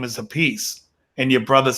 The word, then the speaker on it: Appice: I saw an interview with Carmine Appice or Appice or however he wants to say his name. So the funny thing is he says it's Carmine Appice. Yeah. But his brother says Vinny Appice. Appice, yeah.